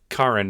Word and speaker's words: Karen: Karen is her name. That's how it's pronounced, apparently.